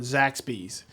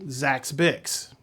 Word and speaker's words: Zaxby's: He always loved the restaurant Zaxby's, but he always pronounced it Zaxby's.